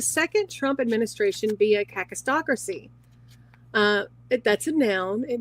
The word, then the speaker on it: kakistocracy: of a state and it's spelled k a Ki stracy whereas I I was thinking and I assumed it was caca h stracy h um Kristen asked